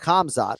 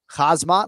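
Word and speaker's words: Khamzat: And he says, "Not Kamzot, but Kazmat, like hazmat suit, like Hazmat."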